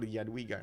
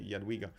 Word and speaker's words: Jadwiga: Maybe he actually saw it, or Jadwiga actually, I should say Jadwiga.